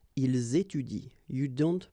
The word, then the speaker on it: étudient: at the plural form, so and t, well, you don't pronounce it, so you will get ils étudient. All right, ils étudient.